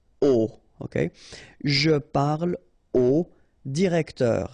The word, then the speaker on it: au: You write it au, you pronounce it o.